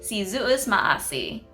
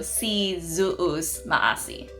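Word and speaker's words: Si Yu'os Ma'åse': To say thank you in Chamorro, you would say si zuus maasi. I've mentioned it in another video of mine, but the Y in the Chamorro alphabet is pronounced like a Z sound, so it's like zuus.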